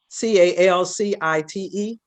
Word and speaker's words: calcite: sight did i say it right kill site c-a-l-c-i-t-e cow calcite calcite calcite and always throw you